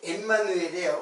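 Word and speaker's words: עמנואל: 이렇게 해놓고 그 임마누엘을 찾으면은 이게 이제 엠마누엘이에요. 원래 그 발음으로는 이제 엠마누엘이에요.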